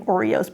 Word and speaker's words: Oreos: Okay, her name is Ori, and it became Oreos, pronounced like the cookie Oreos.